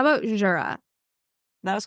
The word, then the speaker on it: Jura: makes sense okay cool okay um how about Jura that was correct yeah J that was pretty